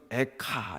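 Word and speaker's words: איכה: 슬프다, 이 말이 히브리어로는 에카 이렇게 발음된다고 합니다.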